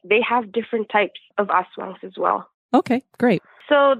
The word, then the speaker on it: aswang: Is it aswang?